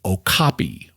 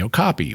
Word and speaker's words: okapi: But that was really hard for many non-pygmies to say, and other tribes had converted that gasping sound into a K sound, and they called the animal the okapi, which is what it's known as today.